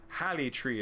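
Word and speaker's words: Haligtree: haligatri haleg tree halitree halitri is how i would pronounce that because i would see the g as a yah sound oh nifty uh is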